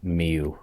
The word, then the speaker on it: Mieux: the third one is mew which means better in french i believe i think it's pronounced miu actually i don't even